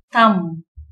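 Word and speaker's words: thumb: Letter B எப்பெல்லாம் சைலண்டா வரும்னா வார்த்தையோட கடைசியில பி வந்து எம்மோட சேர்ந்து வரும்போது பி வந்து சைலண்ட் லெட்டரா இருக்குது. கோம், பாம், தம், நம், லிம் இந்த மாதிரி வார்த்தையோட கடைசியில பி எம்மோட சேர்ந்து வரும்போது சைலண்டா வரும்.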